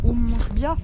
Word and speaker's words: Oum Er-Rbia: La ville d'Azemmour est le long d'un oued, est bordée par un oued, l'oued Oumbia, avec la bonne prononciation.